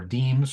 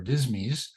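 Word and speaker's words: disme: uh pattern scents and dimes or deemes or dismy uh whichever whichever pronunciation you prefer were coined beginning and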